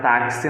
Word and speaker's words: taxi: um táxi na palavra taxi nós temos quatro letras e 5 fonemas Qual é a letra x da palavra taxi é pronunciado com som de c e s tá então esses são